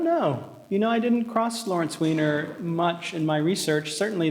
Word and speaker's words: Weiner: same day heard a lecture on Lawrence Weiner, or Wiener, I'm not sure how to pronounce. It's Wiener.